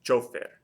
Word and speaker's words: chofer: The next one is chofer. Chofer. Hopefully you can hear the stress is on the O.